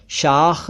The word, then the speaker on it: शाख: साख अलग है। शाख अलग है।